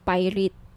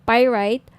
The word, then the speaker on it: pyrite: ng bracelet ito yyung pirate pirate Sorry pir right yung iba pronunciation pirate pyrite Okay 1,980 each may